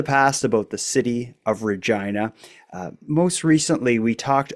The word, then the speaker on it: Regina: well the fact that the city's name rhymes with the re with the female reproductive organ is maybe the only